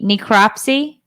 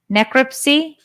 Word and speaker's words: necropsy: how do you say this word Dave NE necropsy necropsy yeah the necropsy it's for dead things